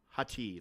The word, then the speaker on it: Hati: Shin, like part of your leg, shin bone, and Hati, like Hati.